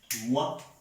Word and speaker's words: moi: ओ आई is pronounce like always वा, वा, मुआ.